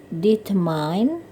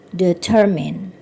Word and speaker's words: determine: Kata berikutnya menentukan, dibacanya bukan determine karena pengaruh dari kata mind gitu ya. Jadi bacaan yang benarnya adalah determine, menentukan.